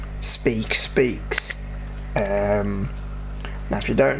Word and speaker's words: Speke: just my name and my surname is speak and as you see from the toriel it's spelled differently spe ke and you know but it is pronounced the same way it's just like a homophone and i was thought